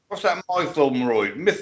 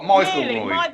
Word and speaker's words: Mytholmroyd: What's that Mytholmroyd? Hey! You got it right the first time. What, Mytholmroyd? Mytholmroyd.